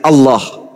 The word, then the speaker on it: Allah: Kalau menggunakan ejaan tajwid, maka bacaannya Allah. Gak ada huruf O di situ.